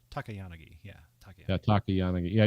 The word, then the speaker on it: Takayanagi: No, it's Takayanagi.